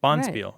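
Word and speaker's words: bonspiel: right right Bond spear boniel boniel Accent on the first Sy yeah we're getting together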